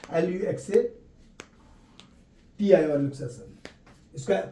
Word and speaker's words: luxation: ये कभी कभी ऑब्जेक्टिव में पूछता है कि इसको और क्या कहा जाता है डिस्लोकेशन, तो LUXATI और लुक्सेशन, इसका प्रोनाउंसिएशन वहां नहीं लिखने बोलेगा, इसलिए आप लुक्सेशन बोलिए, लुक्सेशन बोलिए, कोई दिक्कत नहीं है।